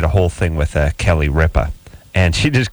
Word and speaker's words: Ripa: You're mispronouncing the person's last name. It's not Ripper.